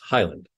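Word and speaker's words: HYLND: five letters for example the spelling of h-y-l-n-d departure is pronounced Highland the stars on the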